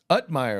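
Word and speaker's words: Uthmeier: Now, the Florida Attorney General James, how do you pronounce that man? Utmeyer, okay.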